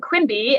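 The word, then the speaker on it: QMB: So I'll show you a few other categories for this program on the next slide, but the SLIMBY and QUIMBY is how you say those acronyms, and please don't ask me what they stand for because I forgot to write that down.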